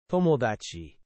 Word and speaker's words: 友達: toh-moh-dah-chee.